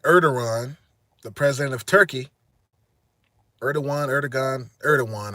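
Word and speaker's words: Erdoğan: Matter of fact, Erdogan, the president of Turkey, Erdogan, I believe is how they say it. The G is a W.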